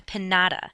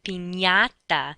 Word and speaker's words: piñata: The thing that you hit at a party is not a pinata. That's not what the candy falls out from. It is a piñata, that NY sound, sort of like how we pronounce lasagna, NY.